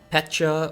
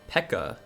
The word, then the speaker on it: Pecha: Pecha or Pekka. How do you pronounce it? I say Pecha. Yeah, similar like Peach.